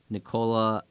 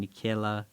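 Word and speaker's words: Nickeil: Michael Beasley Jared Vanderbilt Minnesota received Mike Conley Nicola I mean nikayla Alexander Walker great job pronunciation right there yes they got a second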